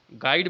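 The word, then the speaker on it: guide: देखिए गाइड में जो है आपका यू साइलेंट है, गाइड बोलते हैं, गाइड गाइड गाइड, तो यू जो है साइलेंट, ठीक।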